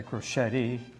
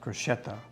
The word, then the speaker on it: Crocetti: Some people say Crocetti. I've had Italian people tell me you pronounce it Crocetta, not Crocetti. So I'll take your word for it.